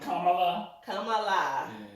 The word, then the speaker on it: Kamala: come alive see harris like carmilla that's how she said you say her name i grew up watching wwf i still call it kamala so the news conference